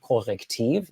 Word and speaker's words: CORRECTIV: First, I would like to introduce Sophie Timmermann, Deputy Head of CORRECTIV. Yes, that's the German pronunciation, and its fact-checking team.